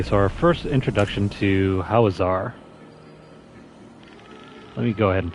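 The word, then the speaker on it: Hawezar: our first introduction to howazar let me go ahead and pull up our map so what is this housar es some people like to pronounce it how Weezer all right so this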